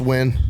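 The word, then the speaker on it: Nguyen: __ ] talking about no buddy it's the number one Vietnamese surname and it's win it's new n what the is the n for it's silent in their language you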